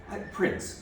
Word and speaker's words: Prinz: And this speaker in particular, the Prinz, is it Prinz or Prinz? Prinz. Prinz, okay. Spelled with a Z.